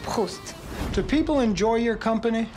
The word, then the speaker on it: Proust: Look, it's not Proust. It's pronounced Proust.